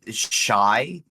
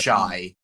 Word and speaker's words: Shiey: I would heartily endorse the channel Shy. It's how it's pronounced, I think. It's S. I'm just going to do the phonetic alphabet because of recording. Sierra, Hector, Indigo, Echo, Yankee. Okay. Shiey. Gotcha. Shy.